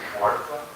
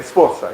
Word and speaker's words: Sforza: What about Catherine Schwarza from the, her husband was like a Duchy of Milan, and she was Yes. the, I could mispronounce her name. Yeah, Sforza, yeah.